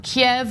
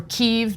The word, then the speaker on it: Kyiv: Russian Convoy headed toward Kiev or keev depending on how you want to pronounce it uh which is pretty